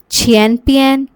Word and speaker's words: 前边: 边 here is pronounced with the neutral tone: bian.